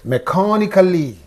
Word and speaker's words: mechanically: Okay, and here ikali is also there. This is the suffix. This is the syllable preceding the suffix. Then what should you say? Mechanically.